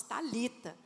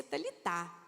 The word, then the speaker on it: Talitá: Hoje, né, foi ficando mais moderno, coloca-se até TH, então nós pronunciamos, falamos Talita, mas aqui no português literal se pronuncia Talitá.